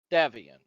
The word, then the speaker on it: Davian: Davian is how you pronounce it, though.